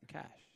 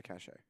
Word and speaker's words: cache: no no no no never that cash never cach a yeah it's a cach a weapons cach a no never heard that one before nope oh it's real it's an inaccurate pronunciation well which one is